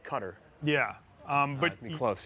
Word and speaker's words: Qatar: in philly but guitar it's like a cutter depending on how you pronounce it yeah i've always been told cutter yeah um but you're